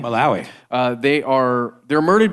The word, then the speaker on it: Malawi: albanism are hunted in places like Tanzania and maloi or uh sorry how do you say it Malawi Malawi uh they are they're murdered because their organs